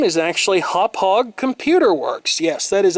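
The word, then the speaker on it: Hauppauge: to see this the company name is actually hop hog Computer Works yes that is actually how that is pronounced I always thought that it was hoppage but I was corrected about that when I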